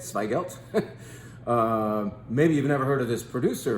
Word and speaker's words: Zweigelt: planted red grape called swelt yes it starts with a z and that's supposedly how you say it swelt um maybe you've never